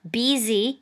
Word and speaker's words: busy: อ่าน บzy นะ คะ ตัว s ตัว นี้ นะ คะ ออก เสียง แบบ ตัว z นะ หรือ ตัว z นะ